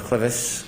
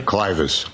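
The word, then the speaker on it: clivus: Were you a presenter in fractures of the clevis clinical and radiographic features? Yes. Am I pronouncing that correctly? Clus.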